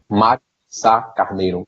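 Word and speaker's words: Mário de Sá-Carneiro: Mário Sá Carneiro.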